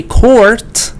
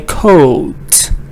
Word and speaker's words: court: So although in American we say court, in British they say coat, something like this. So in this British, yes, R is silent.